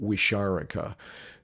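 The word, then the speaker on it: Wixárika: respectful name is and i think i'm pronouncing it fairly close to i don't know if i got it exactly right i pronounce it wisharika and they are elders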